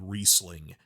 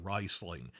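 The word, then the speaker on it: Rhysling: I keep saying for 20 years I've been saying Reeseling and now they're saying it's pronounced Risling.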